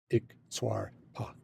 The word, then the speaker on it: iktsuarpok: And if you say it slowly as 3 hard, lonely syllables, it sounds like what it is, iktsuarpok.